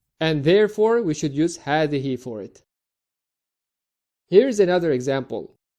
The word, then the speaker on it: هذه: Similar to هذا, هذه also has a hidden alif after the first ha. So we pronounce it as هذه by elongating the a sound.